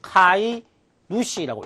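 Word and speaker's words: 飼い主: 어떤 동물의 주인을 사육주, 이것을 우리가 카이 누시라고 읽을 수가 있습니다. 그 다음에 집주인을 또 이에 누시, 집주인을 이에 누시라고 읽을 수 있습니다.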